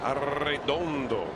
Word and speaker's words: Arredondo: Arredondo. You're going to use that the rest of the year? Oh, I have been. Maybe not quite that pronounced. Trilling the R's quite that much.